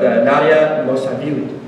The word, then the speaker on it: Nadia Mosavili: So our next speaker is actually a new resident of ours by the name of, forgive me if I say it wrong, but Nadia Mosavili. That's very good.